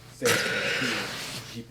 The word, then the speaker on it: Sergipe: Sergipe is how you pronounce it.